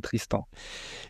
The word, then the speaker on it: Tristant: Est-ce que je prononce bien ton nom déjà? Ouais, très bien. Avec le prénom c'est et le nom c'est Tristan.